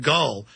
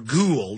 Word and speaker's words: Hamid Gul: gets an interview with Hamid Gull but uh or ghoul depending on how you pronounce it but he came on